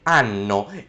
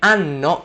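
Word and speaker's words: hanno: So in this situation we have anno and anno. They're pronounced the exact same way, but one is spelled with an H.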